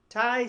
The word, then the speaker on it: Tai: My name is spelled TAI. Yes. So, Nice. thank Nice. you. It's almost like tea, like chai tea.